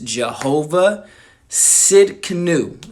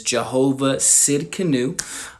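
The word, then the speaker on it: Jehovah Tsidkenu: If you look it up, it actually starts with the T, man. It's just the Hebrew language. It's kind of crazy, but I'm pretty sure the pronunciation is Jehovah Sidkenu.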